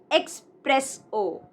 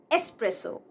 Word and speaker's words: espresso: It is not espresso, but espresso.